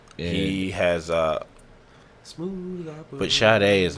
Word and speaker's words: Sade: Oh my God, he did the video for "Smooth Operator" by Sade. Sade.